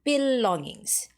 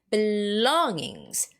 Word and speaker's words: belongings: And belongings. Belonging? No, no, no, no, no, no, no, no. It's belongings. Belongings. That's second syllable, all right?